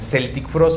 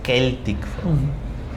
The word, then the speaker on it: Celtic Frost: también banda de metal, muchos lo dicen Celtic Frost, pero es Celtic Frost.